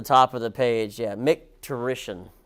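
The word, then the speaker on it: micturition: of the page yeah MC terish is how you say that MC terish I swear I had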